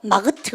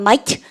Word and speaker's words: might: I go 이렇게 썼는데 여러분요 이렇게 있으면 여러분요 쌤이 요거 might로 발음하실 때 GH 발음하시면 안 돼요. 마그트 그러면 안 됩니다. 발음하겠다 하면 might 자 있죠?